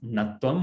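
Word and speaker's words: ṇatva: So it's not ṇa-tvam, like ana, but it's just ṇa-tvam, but your tongue should go up. So you're on the correct flow, but it's still pronounced ṇa-tvam, where your tongue goes up.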